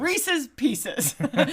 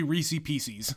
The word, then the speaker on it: Reese's Pieces: There is some contention about how to say it, but that is the correct way. At least At least you don't say Reesei Pieces. No, don't do that. That's wrong.